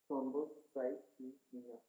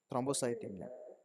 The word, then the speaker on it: thrombocythemia: Can you actually pronounce that? Thrombocythemia. Thrombocymia. Okay. Thrombocythemia.